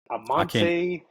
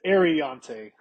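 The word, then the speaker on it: Aireontae: It's Ariante. Ariante Ursary. There you go. I said Amante. Ariante. You said Amante.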